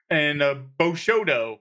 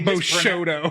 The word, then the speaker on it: Bushido: know samurai stuff, and Bushido. Yeah, or instead of whatever. Bushido, it's They Bushodo. They mispronounce it twice, but in different ways. Yeah, well, the one was Bushido. It was Bushido, Bushodo, and Bishodo.